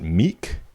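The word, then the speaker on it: Miek: And this is sponsored by I think you would pronounce it Meek. M I E K.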